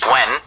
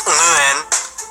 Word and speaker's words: Nguyen: And it's not simply when, like some people have simplified it to be. Say when. Actually, it's pronounced Nguyen. All I know is it's gotta come from your uvula.